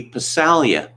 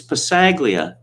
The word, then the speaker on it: Passaglia: louis passaglia and he kept calling him louis passalia and he did it about three or four times before he said look it's passaglia not visalia and brian hall said it's an italian name it's pronounced basalia and the football player was almost beside himself